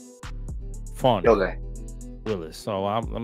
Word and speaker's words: Fani: her name correctly cuz her name is actually fony not Fanny fonny Willis so I'm I'm